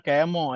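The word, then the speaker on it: chemo: Kayak cemo-cemo itu bacanya kemo ya, jangan cemo. Nggak ada baca cemo-cemo gitu. Kemo.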